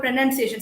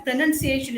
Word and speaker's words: pronunciation: Look at the word pronunciation. Some say pronunciation. No, it is pronounced, pronouncing, pronounced and all, but when it comes to pronunciation, it is pronunciation. The O is missing.